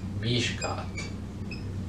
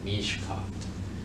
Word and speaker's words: Mishicot: Mishicot. Now, the correct pronunciation of that is Mishkat. Mishkat.